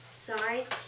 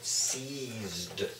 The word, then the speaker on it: seized: not to disturb him, sized his size. Kind of looks like sized. It's got that E in there, which makes it a long E sound. Seized means grabbed.